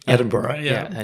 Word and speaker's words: Edinburgh: you live in Edinburgh I say that correctly Edinburgh yeah yeah I say it correctly right and